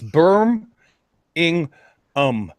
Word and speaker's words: Birmingham: because I'm all debating how to actually pronounce Birmingham I think I have to speak for the Midlands here and he not Birmingham or ham or whatever it's very good food at the end so if you mean the longer its Birmingham and you'll get respect for that yeah let's do it phonetically it's berm in um I had to learn